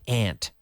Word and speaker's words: aunt: two yes aunts aunts some people say aunts aunts either way but I have more